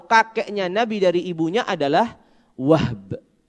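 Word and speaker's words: وهب: Sehingga nama ayahnya Aminah atau kakeknya Nabi dari ibunya adalah Wahb. Wahb. Jadi haknya disukun. Ya, pakai ba. Waw ha ba.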